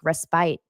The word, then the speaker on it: respite: It has evolved to influence all kinds of popular music and inspire many to take respite.